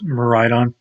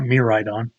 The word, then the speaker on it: Miraidon: Yes, Miraidon, not Miraidon. There's a Skyrim mod follower called Mirai. That's how that's pronounced.